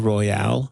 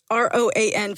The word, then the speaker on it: Roan: Did you say Chopin Royale? No. How are we saying this? Mari, say her name again. It's Chappell for the first name, Roan for the last name.